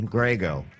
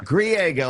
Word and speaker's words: Griego: Griego. Close enough. Griego. Is that how you say it? Seriously? That's it, San Diego, Griego. Yeah. Griego, I got it.